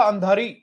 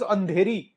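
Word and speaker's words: Andhari: I always use to pronounce it एज अंधेरी. मुंबई में अंधेरी है तो मैं उसको अंधेरी प्रोनाउंस करता था हमेशा. मैंने कल चेक करा अच्छे से pronunciation, the Hindi pronunciation, it इज अंधारी.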